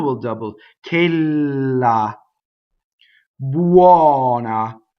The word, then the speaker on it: buona: Buona. Open O. Buona. One N. Remember the thing about we love to double, right? So you'll hear buona a lot. Buona.